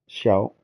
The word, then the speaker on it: Xiao: is pronounced as SH, like shall is pronounced shio. Xiao.